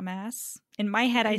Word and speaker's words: Maas: by Sarah J Maas Moss I don't know she has two A's in her last name and it's very confusing it's not that confusing everyone says Moss is it okay it's not mass in my head I